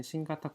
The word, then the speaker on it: 新型: 코로나 바이러스를 일본에서 얘기할 때는 신가타 코로나라고 합니다. 신가타, 네, 한자로는 신형인데 이 형자는 카타라고 읽습니다. 그리고 앞에 다른 글자가 오면 이제 땡땡이 붙여서 신가타, 가타라고 읽고요.